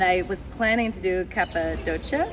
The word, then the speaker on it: Cappadocia: And I was planning to do Cappadocia. Am I saying that right? I don't know. I call it Cappadocia, but Cappadocia. Okay. You're right. That's the right way. I always say it wrong.